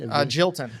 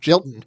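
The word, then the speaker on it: Gjelten: Although if you know the legislative history, how do you pronounce the guy's name? G-J-E-L-T-N? Jilton. Jilton. Yeah.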